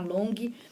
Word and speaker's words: Longhi: O Long, gente, se escreve L-O-N-G-H-I.